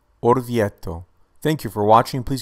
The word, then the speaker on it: Orvieto: it is known for its stunning Gothic Cathedral pronunciation of this city is orto orto orto thank you for watching please give a like